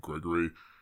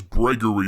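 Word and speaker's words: Breggory: to pronounce the name people keep saying gregory it's not okay i have i have the official script here his canon name is gregory with a b b-r-e-g-g-o-r-y you know it doesn't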